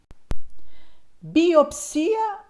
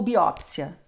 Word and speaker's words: biópsia: dizer seja bem-vindo bem-vindo biopcia ou biópsia altopcia ou autópsia necropsia ou necropsia o Volp registra todas as formas todas essas formas estão corretas você pode escolher se você usa biópsia ou biópsia e o particularmente prefiro biópsia autópsia necropsia Lembrando que existe